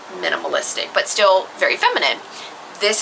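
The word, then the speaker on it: MNMLIS: the line is called Minimalist, but it's spelt m n m l i s. Yeah. So, they don't actually spell it as minimalist, but obviously that is what it's supposed to be pronounced as.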